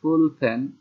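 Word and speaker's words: 볼펜: আর একটা হচ্ছে ফুল ফ্যান, ফুল ফ্যান ব শব্দ শুধু পাওয়া হচ্ছে না, ফুল ফ্যান, ফুল ফ্যান মানে হলো কলম, ইংরেজি বল ফ্যান শব্দ থেকে আসছে।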